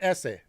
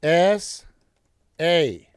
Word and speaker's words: SA: All right, first of all, it's not essay, okay? It's S-A. They are initials.